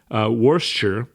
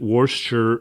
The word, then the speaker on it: Worcester: and it was in a city in Massachusetts, Worcester is how it's pronounced, actually. It looks like Worcester, but everyone pronounces it Worcester, Massachusetts.